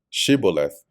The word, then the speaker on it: shibboleth: would pronounce that word, shibboleth. They couldn't frame, as it says, to pronounce she. So they would say si, and they would say, yeah, he's an Ephraimite, kill him.